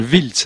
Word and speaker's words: Wiltz: jouer demain s'il voulait la voir ça s'appelle wiltz avec un wlt z et donc je le